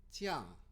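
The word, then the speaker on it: 酱: 찌앙. 다시 한번 읽어보겠습니다. 찌앙.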